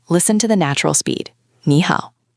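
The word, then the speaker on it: 你好: When you put two third tones together, the first one magically changes into a second tone, which is a rising tone, like you're asking a question. What? Ah, so instead of saying knee down up how down up which is exhausting for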